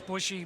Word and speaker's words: Bushy: Most people pronounce it Busher, but it's Bushy, whatever.